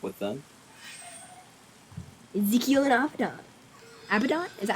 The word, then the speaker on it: Abaddon: Abaddon? Is that how you pronounce it? Yes, Abaddon.